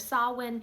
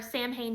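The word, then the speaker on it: Samhain: Sam's name comes from the tradition of Sawin or Sam Hayne depending on how you pronounce it.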